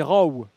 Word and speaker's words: Rowe: Alors, dans la nouvelle prononciation par Lionel Tony, c'est Rowe.